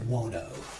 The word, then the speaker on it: Buono: Uh Dwayne Buono.